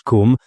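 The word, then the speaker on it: Koom: Kum pronounced like the Welsh Kum denotes something of hollowess.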